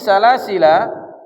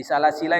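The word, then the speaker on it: سلاسلا: bilfi walbati waqfan rutila Dan pada lafaz salasila surah al-insan ayat 4, cara membacanya dengan menghilangkan alif atau mensukunkan lam.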